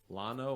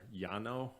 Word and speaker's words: Llano: though right yeah I beat believe it's the Llano or Yano however you want to pronounce that River mmm okay yeah it feeds